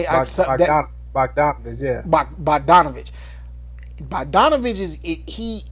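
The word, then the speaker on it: Bogdanović: Bogdanovich. Oh yes, That's how you say that. Bogdanovich.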